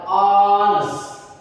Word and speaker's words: honest: H-nya dihapuskan cara bacanya.